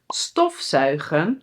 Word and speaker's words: stofzuigen: So in a moment we will see in the example sentences that these are inseparable, but the emphasis is on the first part!!